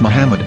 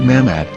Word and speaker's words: Muhammad: English dictionary it is correctly pronounced as Muhammad not mammad so how we're going